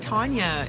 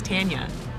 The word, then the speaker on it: Tanya: He should say my name right. Ooh. Yeah, he's been saying Tanya. It's Tanya. Tanya.